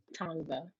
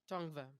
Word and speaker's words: Tongva: I know who they are, but I don't pronounce it well. Tongva. Tongva. Tongva.